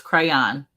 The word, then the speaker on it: crayon: 2 syllables. Crayon.